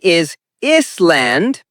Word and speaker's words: island: Word island. Wrong is land. Correct is island. Example. Hawaii is a beautiful island. The s is silent. Remember that.